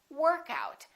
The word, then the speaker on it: workout: and I can say workout I had a great workout in that case we emphasize the first part I had a workout